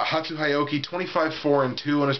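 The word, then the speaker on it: Hatsu Hioki: name right this time I usually pronounce it pasuki which I know is very wrong but I believe I got it right that time uh hatu hyoki 254 and two on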